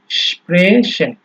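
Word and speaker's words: sprechen: ঠিক আছে, স্প্রেশন, তো এই যে আপনার উচ্চারণটা হচ্ছে এস সে হাফে মূলত এইরকম শোনা যাবে অনেকটা।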